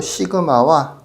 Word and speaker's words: 시그마: 합의 기호 시그마와 그 성질이라고 되어 있죠.요 기호를 시그마라고 읽어요. 쓸 때는 그냥 시그마라고 쓰기도 하더라고요. 예. 시그마라고 읽습니다. 시그마.